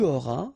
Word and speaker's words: auras: J'aurai, tu auras, final S not pronounced, il aura, elle aura,